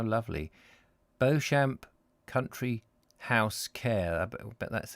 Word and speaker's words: Beauchamp: mallet love those names beauchamp is probably beachum is probably pronounced beechum who is it beecham i expect it's a